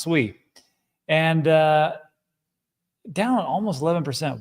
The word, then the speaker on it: SUI: Yeah, that's how it's pronounced. Sweet.